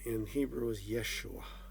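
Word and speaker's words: ישוע: we called him iasu which was the correct pronunciation in greek his actual name in hebrew is yeshua yeshua who is this jesus or who was well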